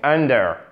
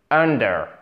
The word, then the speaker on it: under: below et inversement évidemment donc under under and under accentuation sur la première syllabe hockey under c'est sous